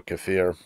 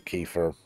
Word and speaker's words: kefir: Or if you can get yourself like water kefir or kefir, depending on how people want to pronounce it, either of those will work.